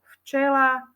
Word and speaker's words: včela: f píšeme tam v takisto slovíčko včela čítame ho ako včela ale píšeme na začiatku v ako včela Ale nevyslovuje to